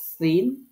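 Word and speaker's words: س: জিহবার আগা নিচের দাতের আগা হরফ উচ্চারিত হবে তিনটি যা সিন সদ এটা মনে রাখতে হবে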